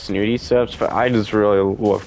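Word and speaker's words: Snooty Steps: has both The Medallion from fencing fields in snotty steps if I'm going to be honest I know it's pronounced snoody steps but I just really love calling it snotty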